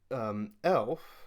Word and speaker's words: Aelf: of their name so the spelling of El as a e.l.f is a similar move by GW to kind of reflect an older archaic spelling now this is a